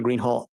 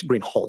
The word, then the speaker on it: Greenhall: you your honor officer Green Hall I believe I'm mispronouncing your name it's green Hol isn't it correct I apologize will you